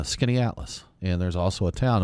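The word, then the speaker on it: Skaneateles: And there's a lake there called Skinny Atlas. And there's also a town. And when we first moved there, talking about hard to pronounce northern words, there was we called it Scanatellis. And we were trying to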